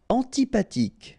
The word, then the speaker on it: antipathique: Antipathique. So remember, this H doesn't exist phonetically, so antipathique. Okay, final E not pronounced.